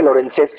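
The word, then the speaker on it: Lorencez: Pues en aquellos tiempos también los comandantes franceses, Lorenz, se escribe Lorenzés, pero creo que en francés se pronuncia Lorenz, y si no, pues quién sabe, pero algo así.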